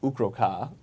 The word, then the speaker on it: Ukro'Kaah: Anybody watching, the Path's Temple of Ukro'Kaah is how you Ukro'Kaah.